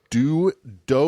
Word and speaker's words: Do: D-O and T-I. That's how they referred to each other and themselves. Who's dough and who's tea? He's Do, she's Ti. Okay.